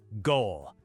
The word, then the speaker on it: gol: Word 1, goal. Not pronounced like the English word goal, it's just one syllable, short and sharp.